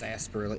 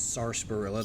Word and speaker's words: sarsaparilla: of sunset sarsaparilla and there is an r in there so no one try to correct me it's asperilla it's sarsaparilla there's an r unless the r is silent i don't believe it is we get here boys